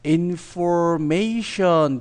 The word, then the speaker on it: information: 자, 첫 번째 단어는요, 어떻게 발음이 되냐면요, information 뒤에 액센트가 들어가게 됩니다. 뒤에 삼음절에 액센트가 가는데요.